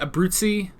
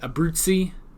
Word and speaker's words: Abruzzi: Because Abruzzi, I think that's how you say it, Abruzzi, like the Z's sort of become like TS's a bit, Abruzzi, something like that.